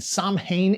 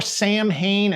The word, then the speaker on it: Samhain: Demons, vampires, werewolves, an episode inspired by Cthulhu and Samhain itself. That's how it's pronounced in the show. Save your Samhain and Samhain takes for your Halloween parties.